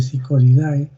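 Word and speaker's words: Psychodidae: Se escribe Psicodidae, pero se pronuncia Psicodidae.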